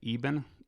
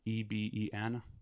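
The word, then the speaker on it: Eben: I believe I'm saying it right. Eban. Ebeen. Yeah, it's Dr. Eban Alexander.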